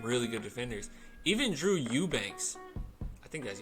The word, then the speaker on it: Eubanks: Even Drew Eubanks, I think that's how you say it. Some people say Ebanks. I think it's Eubanks.